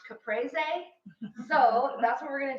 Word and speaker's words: caprese: our language or Italian my husband's Italian so he would want me to say it's pronounced caprese so that's what we're